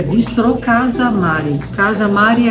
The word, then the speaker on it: Casa Mari: Casa Mari é casarão em romeno, só que acabou sendo o nome que eu escolhi e não deu liga, mas é muito erro de pronúncia. Casa Maré, Maré é coisa que vai para trás.